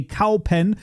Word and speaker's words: Kaupen: You take the word for the animal that makes moo. That's called a cow. And then you say pen, as in either the writing instrument or, if you put